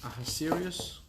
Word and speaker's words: Ahasuerus: King, how do you pronounce this in English? Ahasuerus?